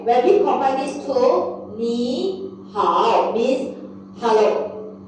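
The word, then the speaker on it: 你好: So just for your information, both tone number 3, the first syllables we will have to turn our tone to second tone. Okay? So this pronounced as a ni hao.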